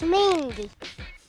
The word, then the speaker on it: Mingua: Mingua beef jerky? Is that how you say it? I've always heard it pronounced Mingwa beef jerky. Yeah, I know how to pronounce this. It's Mingua? No, it's Mingy.